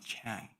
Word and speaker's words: Chan: So you might have heard the word Zen from many publications in English, all talk about Zen, but the Chinese pronunciation of Zen is Chan.